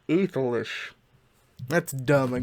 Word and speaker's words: Æthelish: right pronunciation but yeah according to my sources it's pronounced ethyl-ish that's dumb I call